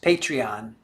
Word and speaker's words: Patreon: And it is pronounced Patreon.